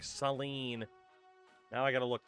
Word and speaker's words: Saline: Let me guess, they pronounce it like Sine. Now I got to look this place up. How do you pronounce it? Population 9,000. It is Seline.